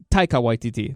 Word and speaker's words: Taika Waititi: name well he he directed thor ragnarok yeah whitey T I think that's how you say his name anyway so supposedly he's going to be the director for it but then that makes it even Taika Waititi there you go that makes it even more